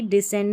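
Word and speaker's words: descend: और same to same ऐसे ही डिसेंड में होता है नीचे उतरना। यहां पर भी सी का जो उच्चारण है वो नहीं सुनाई दे रहा है। साइलेंट है।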